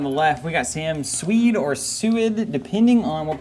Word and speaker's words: Suied: And have you, I asked Sam the last time, I believe, how he liked his name pronounced. It's Suied, is what he says.